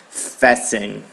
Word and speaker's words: fasten: Então, por regra, você não pode falar esse T, que é errado, ok? Então, a gente tem essa palavra aqui, que é fasten. Fasten, ok? Então, fasten, a gente pronuncia como tá aqui no vermelhinho, fasten.